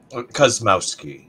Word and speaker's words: Kosmowski: brother Andrew brother Andrew kosamoiski that I pronounced that correctly cosmowski is all right so uh the first